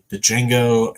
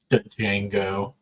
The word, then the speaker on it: Django: we do our spin the D is silent I'm just saying it like that one butthole who kept pronouncing the D Django but no we me